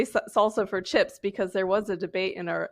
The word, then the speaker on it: SLSA: off with uh slsa salsa what is it and like what do you do because this is a really good good topic sure so salsa is how we pronounce it stands for um supply